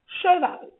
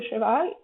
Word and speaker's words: cheval: Le E caduc, c'est le E qu'on n'est pas obligé de toujours prononcer. Il y en a plein comme ça en français. D'ailleurs, je suis certaine que tout le monde ici, avec tous les francophones à qui je parle actuellement, ne prononce pas le E de cheval quand ils parlent dans leur vie quotidienne.